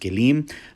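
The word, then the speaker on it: כלים: So, for example, you'll hear him say kelim, right? And that's the Hebrew word that's now pronounced kelim, which means vessels or instruments.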